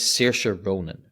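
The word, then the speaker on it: Saoirse Ronan: because I can never actually remember how to pronounce it right sery Ronan her name is sea Ronin right and her first name her first name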